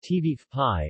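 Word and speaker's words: ćevapi: not other meat cuts cevapi cevapi pronounced TV pie or cevapcici formal diminutive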